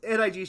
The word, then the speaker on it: NIG: pronouncing the vowel wrong. It's not Yeah. it's I. It's NIG, short for Not Important Gaming.